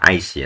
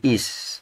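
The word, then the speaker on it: אִישׁ: nikut I nah ini bacanya bukan ace ya tapi is nah nah Yod ini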